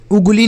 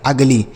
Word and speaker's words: ugly: ठीक है, जैसे UGLY, तो इसे हम अगली पढ़ेंगे, उगली नहीं पढ़ेंगे, अगली।